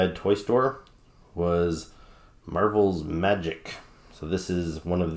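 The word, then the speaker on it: Magik: many years I did not know how to pronounce her name it's magic with a k' instead of a c and i would pronounce it Madge eek I'm not sure why and even her her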